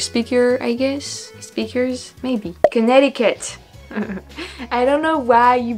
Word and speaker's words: Connecticut: make as English speaker I guess speakers maybe Connecticut I don't know why you you better a see in the middle of that word but you're not pronouncing it Connecticut in it's to be but no Connecticut I